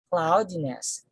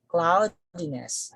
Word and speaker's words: cloudiness: Then next we have cloudy, cloudy, cloudy, cloudiness, cloudiness. So the stress falls on the cloudy, cloudy, cloudiness, cloudiness. Okay, then we have careless, careless, careless.